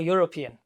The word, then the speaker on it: European: she from yes Europe how is it produced a consonant sound at the beginning or vowel ah a consonant that's why yes there should be a or european okay this is dot